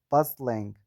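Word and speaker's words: bustling: Say buzzling the tea here is silent.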